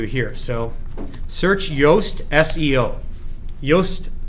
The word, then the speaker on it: Yoast: Yoast with a Y, it's like toast with a Y, okay? Spelled the same way.